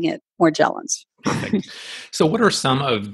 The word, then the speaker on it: Morgellons: I immediately pronounced it more gel ins and also I know that it came first from French which would be Moshe along so again the soft G so most of us